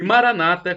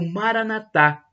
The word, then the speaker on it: Maranata: E Maranata, como dizem os protestantes, os evangélicos, com a tônica na penúltima sílaba, ou Maranatá, como dizemos nós católicos, com a tônica na última sílaba.